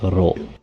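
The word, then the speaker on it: ろ: Um it can be a little bit tricky because it's sort of in between "l" and "r" and the vowel sounds are not exactly the ones that we use in English. Um but if you if you kind of follow the the the chart uh the guide for how it says, you know, "ro" with uh with the two Latin characters, it's it's it's a close approximation.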